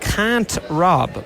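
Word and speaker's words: Kantrob: It's called Can't Rob, but it's spelled K A N T R O B.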